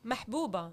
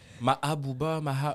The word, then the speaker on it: Mahbouba: dès qu'il y a un H muet dans un mot, Les gens, ils apparemment, battraient ils ici. savent pas où est-ce qu'il va. Ouais. Mahabouba, il est pas là le H, enlève-le.